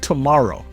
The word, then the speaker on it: TMRW: They call their company TMRW Sports, pronounced tomorrow, because apparently spelling out tomorrow isn't futuristic enough.